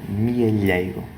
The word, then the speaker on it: mealheiro: “How do you pronounce the LH correctly as in the word "mealheiro" (piggy bank)?” LH is pronounced /ʎ/, /mjɐˈʎɐj.ɾu/. The body of the tongue presses up against the palate and to the sides: mealheiro!